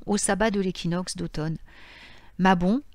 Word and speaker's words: Mabon: sabbat de l'équinoxe d'automne mabon se prononcent normalement maybach et son nom se